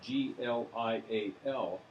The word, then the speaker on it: glial: These are spelled G-L-I-A-L, pronounced glial cells.